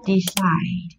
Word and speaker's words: decide: Decide. Right, decide. Decide là động từ có hai âm tiết, trọng âm được rơi vào âm tiết thứ hai.